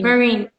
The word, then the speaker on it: Marynn: Marynn. I think I'm not pronouncing Marynn. Marynn. Like the fear and the crowd. Like the U.S. Marines.